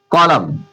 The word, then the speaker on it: column: इसे देखिए एम के बाद एन आ रहा है, कॉलम, COLUMN, कॉलम, कॉलम। आशा करता हूं आपको क्लास